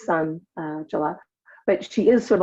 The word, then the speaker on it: Sanjula: And as everybody can see, Sanjula is, even though her name is spelled Sanjula, pronounced Sanjula, but she is sort of like the sun, right?